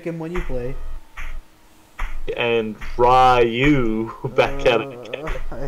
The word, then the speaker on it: Ryu: And then I heard people say, no, it's actually Ryu. I'm like, oh, okay, thank you. Yeah. Alright, it's good to know. Then there's the weebs who are like, no, it's actually Rue.